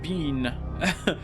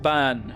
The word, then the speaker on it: bean: Okay, so it's not pronounced bean. It's pronounced ban.